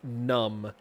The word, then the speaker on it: MVNVMB: My stream BGM is a song called, I believe it's Your Colors, by the artist Numb. MVNVMB is how it's spelled.